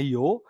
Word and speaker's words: Io: kanan ya yo ya itu namanya io gitu ya bacanya Joe kemudian Europa kemudian satelit